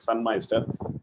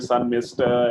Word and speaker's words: Sunmeister: uh scandinavian word so the pronunciation in india is it can take a few uh you know uh portugal as such correct we've been even called sun mister and some moisture in the works so yeah okay wonderful